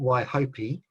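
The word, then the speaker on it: Waihopai: to pronounce it properly not why hopi p a i isn't pronounced as p um some pretty spectacular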